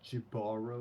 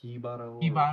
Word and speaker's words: Jibaro: I was gonna say it falls blurry kind of lines between Jibaro or Hibaro, however you want to pronounce it.